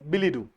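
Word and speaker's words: billet-doux: है यहाँ पे ना, इट्स a foreign word DUX बट इट is pronounce as बिली डू।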